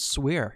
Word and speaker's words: Swire: ace clients Swire sweer first of all you gotta tell everybody how to pronounce your name he's a tomato or tomahto it's swear swear at least that's how it's pronounced in South Dakota there you go yeah